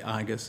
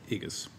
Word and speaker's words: IGIS: I I think uh I think in that agency they say Argus and I say Eagles so we can well I always use the soft G because it's general not good not General so okay the Inspector General